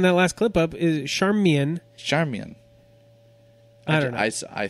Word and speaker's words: Charmian: just looking it up it's not Charmaine like you would think Charmaine would be because it's CH AR M I am there's no pronunciation given on Wikipedia her maiden name was char Mian Kittredge though okay Charmian